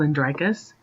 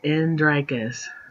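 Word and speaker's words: Andrakas: the moving city is called andrikas just like it's spelled in drakas and then we have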